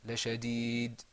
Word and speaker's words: لشديد: But when you pronounce that dal in the end, you're going to hear a kind of bouncing sound.